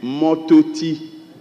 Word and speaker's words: Mototi: It's supposed to be Mototi, which translates a tree by the roadside. Mototi. Then again, okay, it's spelled M-O-R-T-O-T-I, Mototi.